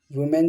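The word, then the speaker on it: women: Mouse वुमेन जो है वो वुमेन का देखो क्या है वुमेन, है ना। लेकिन जब ये प्लूरल में आता है तो इसका प्रोनाउंसिएशन भी चेंज होता है वीमेन।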